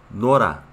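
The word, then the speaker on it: 놀아: Se escribe nol más a. ¿Sí? Pero por la regla de pronunciación se pronuncia Nora.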